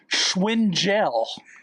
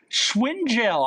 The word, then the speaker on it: Schwingel: Ashley Schwingel. Schwingel. I'm going to spell it for all you there.